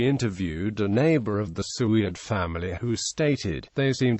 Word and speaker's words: Soueid: years and twin 15-year-old sons su's name is pronounced sued earlier civil lawsuit sued was named as a